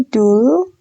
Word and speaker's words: 두: Lalu ada dul, 2, itu juga dia realnya hilang. Jadi tinggal du aja.